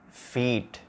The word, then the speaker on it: feet: So this is shit, this is sheet, it, eat, bitch, beach, fit, feet.